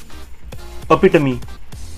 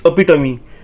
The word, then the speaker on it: epitome: So it's epitome, and it is pronounced as UH hyphen PITUH hyphen me.